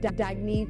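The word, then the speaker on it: Dagne: good you can live life intentionally oh it's pronounced dagy do dagy means new dawn it's a new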